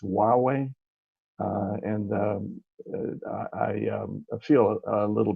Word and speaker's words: Huawei: By the way, I think the name of the company that's being referenced is pronounced Huawei, and I feel a little bit.